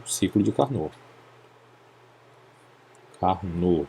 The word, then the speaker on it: Carnot: Carnot. Lembrando que esse T aqui, que é um nome francês, não é pronunciável, né?